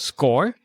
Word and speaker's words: Skore: the company which is offering a tool called score right is that how you pronounce it correct yeah so tell us a